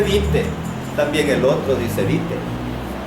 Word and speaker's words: byte: Porque si yo digo que utiliza un bit, ¿será lo mismo que un byte? No, ¿verdad? Pero ahí dice bit. Pero míreme, si usted está hablando ya de pronunciar como dice, ahí dice bite.